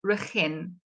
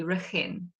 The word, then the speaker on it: Regin: So it's my grandmother's name, and it's pronounced Regin. So it's got a soft G, Regin.